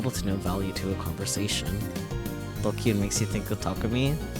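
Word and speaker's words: ドキュン: Pronounced Dokyun. Used to refer to people who are stupid, antisocial, or delinquents.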